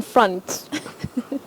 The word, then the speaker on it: front: in front it's in front front normally uh what we see is front f r o n t but that letter O takes what we call the mid Central vowel sound uh front in front